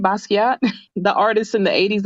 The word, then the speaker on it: Basquiat: year but um no he played um Jean-Michel basket how do you say his name Basquiat the artist in the 80s that collaborated with